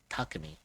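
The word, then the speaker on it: Takemi: So, it's like now we pronounce it as Takami.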